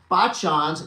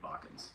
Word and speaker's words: Bachan's: Both me and my daughter love Bachans. Although we've been mispronouncing it, calling it Bakans. Oh, Bakans. Now I know. Bachan's. It's short for Obachan, which is Japanese for grandmother.